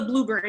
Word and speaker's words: Blubrry: thing called Blueberry, and that's a little tricky it's not like it sounds. So I'm going to just show you briefly on the screen here. This is the Blueberry, so it's spelled Blubrry, okay?